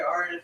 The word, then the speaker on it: Aridif: Don't worry, Aridif will make you drink more.